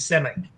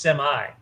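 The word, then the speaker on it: Semmi: walking yeah that's why his name's simek you know what the funny it's it's supposed to be pronounced semi yeah you know what's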